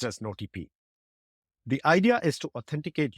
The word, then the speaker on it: nOTP: solve this it introducing notp spelled as NP pronounced as notp the idea is to authenticate users in WhatsApp